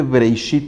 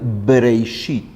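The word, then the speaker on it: בראשית: Y la pronunciación de Breishit es justo la pronunciación labial, Breishit.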